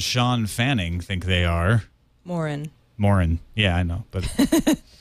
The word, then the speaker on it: Morin: I don't know who this Dave Marin and Sean Fanning think they are. Morin. Morin. Yeah, I know. But I couldn't mispronounce Fanning.